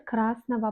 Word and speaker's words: красного: Le fameux exemple dont j'ai parlé au début de la vidéo, Ogo, Yego, on prononce comme Ova, Yeva. Par exemple, у меня нет красного платья.